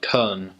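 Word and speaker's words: Köln: middle of Germany and in German it's actually called Cohn and so a lot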